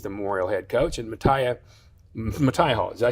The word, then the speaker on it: Mataya: He is the Memorial head coach, and Mataya Hall. Did I say it right? Mataya.